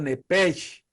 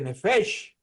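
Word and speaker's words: nephesh: ser viviente en hebreo en hebreo nepes se escribe n e p h e s h se podría Traducir la p como la H como F nefes pero nosotros decimos nep Génesis 2:5 tiene una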